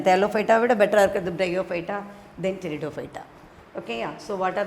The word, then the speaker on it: Pteridophyta: Thalophyta, Bryophyta and Pteridophyta. Here P is silent. So non-flowering plants, we divide them into Thalophyta, Bryophyta and Pteridophyta.